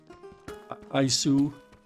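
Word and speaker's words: アイス: We just change it up a little with our accent so we can pronounce it a little bit better. Aisu.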